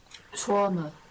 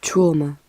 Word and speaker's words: trauma: Trauma. Trauma. Yeah. Now I have heard people saying trauma, but the standard pronunciation is trauma.